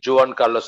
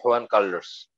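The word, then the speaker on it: Juan Carlos: এবং জুয়ান, আমরা বলি জুয়ান কার্লোস, আমরা বলি হুয়ান কার্লোস, মানে যেটা উচ্চারণ করে না।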